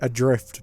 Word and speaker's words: ADR1FT: I think it's meant to be Adrift, but it's got a 1 in there to look cool.